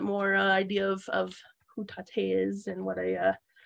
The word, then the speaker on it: Taté: with my name is Tate part one that's weird say it one more time I thought you said Katie is it short for Tatiana tater tot rhymes with latte but you're like really